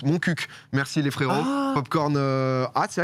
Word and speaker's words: Montcuq: la ville par pitié arrêtez de dire mon cul ça se prononce montcuq merci les frérots cornes